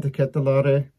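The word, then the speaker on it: De Ketelaere: lot uh bring in the catalari that's the comes from the name itself uh man himself that's how he pronounce it i think even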